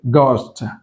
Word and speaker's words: ghost: Ghost, not the ghost, చూడండి ఇక్కడ ghost, ఇక్కడ H సౌండ్ రాలేదు, రైట్? గోస్ట్.